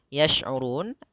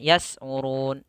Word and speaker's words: يشعرون: Hati-hati pada lafal yash'urun, hati-hati jangan membacanya yas'urun, yas'urun. Akan tetapi di situ huruf shin.